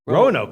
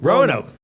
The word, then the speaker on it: Roanoke: team or college in Virginia how do you pronounce that rinoa where's Ren no key Roanoke grow nope Roanoke oh very nice college in Virginia that's great